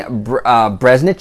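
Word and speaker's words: Breznican: his name is Anthony bresnick check I believe it's how you say it or bresnick an something of that nature anyway he works for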